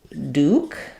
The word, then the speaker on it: Duke: Rook for example hook so often with K you might it might be better to think of it as this spelling to make sure that you have the oo sound in your mind so Duke and um